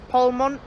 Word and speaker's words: Polmont: Stops along the way include Edinburgh Waverley to start with, then Haymarket, then Linlithgow, Polmont, that's how you pronounce it, Falkirk High, Croy, and then Glasgow Queen Street.